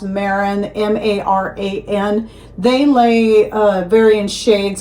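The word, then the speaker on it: Marans: Like one I would like to get, I think it's pronounced Maran, M-A-R-A-N.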